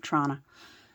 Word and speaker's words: Toronto: If you're from Toronto, you pronounce it Toronto.